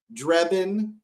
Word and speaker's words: Drebin: a drebin has to be said as drebin he is drebin the